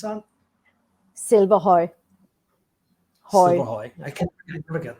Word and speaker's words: Silverhøj: Silverhøj. Silverhøj. I can never get that. Silverhøj. Silverhøj? Silverhøj. Well, you know, I actually, if I would say it in Danish, it would be Silverhøj.